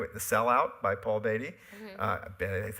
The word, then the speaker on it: Beatty: The Sellout by Paul Beatty. That's how you pronounce his name.